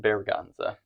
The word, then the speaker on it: Berganza: Bergonza. Bergonza? Uh-huh. Is that Spanish pronunciation.